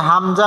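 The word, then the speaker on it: همزة: কোন টান হবে না তারপরে হামজা বলার সময় টান হবে না বাকি 27 টি অক্ষর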